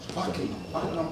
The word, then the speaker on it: Buckingham: And you, Buckingham Palace, the H is silent.